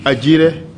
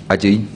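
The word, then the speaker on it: Agyei: Johnson Ajire. Johnson. Jerry. Well, it says Johnson, which I imagine should be Johnson. Yeah. Ajire, A-G-Y-R-E. Ajay.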